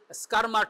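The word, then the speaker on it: Schirmer: called S সি এইচ আই আর এটা হচ্ছে স্কারমার test S সি এইচ আর এমই আর স্কারমার test যেটা সহজে উচ্চারণ করা এস সি এইচ আই এস সি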